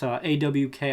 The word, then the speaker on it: awk: I think that's how you pronounce it. It's AWK, I say awk.